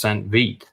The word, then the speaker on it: St. Vith: So Oh, St. Vith is pronounced Saint Vite. But it's Saint Vite, okay.